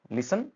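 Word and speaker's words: listen: लिसन carefully. कृपया ध्यान से सुने। टी साइलेंट रहेगा।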